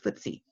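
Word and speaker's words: FTSE: ke e I and England has what's briefie ated as ft/s e and as sometimes sometimes called footsie stock prices fluctuate on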